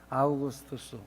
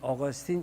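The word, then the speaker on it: Augustine: 그 중에 하나가 아우구스투스, 우리 어거스틴 이렇게 영어 발음을 하는데 그 다음에 아시시의 성자 소리 듣는 성 프란시스 그리고 존 뉴턴이라는 사람을 꼽습니다.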